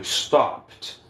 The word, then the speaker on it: stopped: Então, quando um verbo termina com a letra P, se depois dele vier o ED, vai vir com som de T. Então vai ficar stopped. Stopped. Stopped. Ó, do P direto pro T.